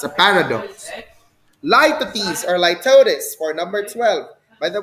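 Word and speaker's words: litotes: a paradox lypatis or litotis for number 12. by the way we pronounce that as light at ease with a z if you pronounce it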